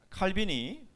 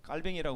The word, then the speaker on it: 칼뱅: 왜냐면 이 부분들은 어 칼빈이 뭐 칼뱅이 그러더라고요 제가 칼빈 칼뱅 그러니까 칼뱅이 해야 더 맞는 발음이에요 그러는데 저는 칼빈으로 배웠기